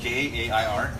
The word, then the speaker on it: Jair: It's it's spelled Jair.